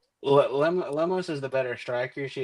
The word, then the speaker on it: Lemos: Next, you got Tatina Suarez versus Amanda Lenos. Lemos. I'm pretty sure I said the name wrong.